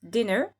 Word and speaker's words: dinner: C'est pour ça que dinner avec deux N, c'est le dîner, ça se prononce dinner.